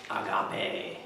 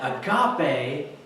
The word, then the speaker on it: agape: And you spell it out in English and it looks like it's agape, which means to be widely open, and you're like, that's a weird word, but it's agape in Greek.